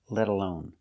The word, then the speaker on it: let alone: let's talk about pronunciation when you say let alone the t is between vowels so it sounds like a fast D like water bottle Letta Leta let alone let alone I can say she